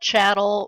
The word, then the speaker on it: chattel: my sociology classes that chattel rhymes with cattle and cattle are owned